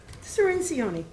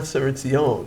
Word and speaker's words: Cirincione: Cirincione. Cercioni. Yeah. What did I say? It's close. Close. It's a lot of Cercioni. syllables. It's not Cercione, it's Cercioni. it's the way it's spelled.